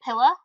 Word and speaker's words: pillow: Pillow would be pronounced like pilla. You want a pilla?